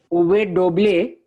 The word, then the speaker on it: uve doble: A, U, V, Uve doble. With Doble. There is no D sound. Uve doble.